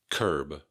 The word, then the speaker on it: curb: Curb, curb. You definitely want to keep that B at the end of curb.